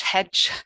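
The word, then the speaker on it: hecg: It's spelt H-E-C-G, but that CG cluster in Old English was in fact pronounced in exactly the same way that we pronounce J. So Old English hedge sounded just like modern English hedge.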